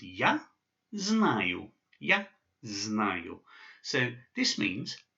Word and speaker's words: знаю: And so this phrase is pronounced ya znаю.